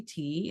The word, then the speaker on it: Tsikki: pronounced my name correctly a lot of people cannot so I tell them to call me tea if they can say Tiki you know but you